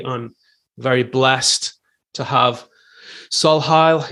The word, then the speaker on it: Solhial: Today, I'm very blessed to have Solhial. Is that how I pronounce it? Yeah, actually, it's quite good. Sohial. Solhial, okay.